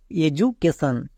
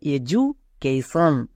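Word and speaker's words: education: যখন ডি এর দুপাশে দুটো ভাওয়েল থাকবে নেক্সট এডুকেশন এডুকেশন একে অনেকে প্রায় 90% লোক ভুল করে উচ্চারণ করে এডুকেশন কিন্তু এটা সম্পূর্ণ ভুল এর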